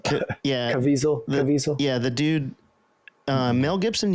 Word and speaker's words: Caviezel: In this case, I think it'll be Jim Caviezel, the Passion of the Christ dude.